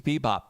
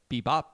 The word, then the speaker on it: bebop: It's like Bbop. So the accent is on the bop.